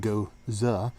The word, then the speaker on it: Gose: with a Persian line goes up pronounced go uh uh we be cattle